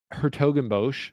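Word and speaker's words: 's-Hertogenbosch: And then my next guy, Gabe Diallo, plus 700, who Gabe Diallo just won his first title in Hertogenbosch, is how you say it.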